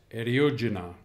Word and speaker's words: Eriugena: chapter number four of deidre carabines johns cottus eriojina that's how she pronounced it so listen carefully always when a